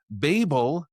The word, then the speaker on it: Babel: Babel rhymes with table is the more UK English version.